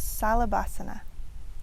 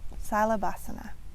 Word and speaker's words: Salabhasana: We also learn Locust pose, which is Salabhasana. Salabhasana.